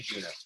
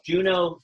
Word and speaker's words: Juno: Let's not pronounce the weird Latin J. Let's just say Juno. So it's Juno, Junonis.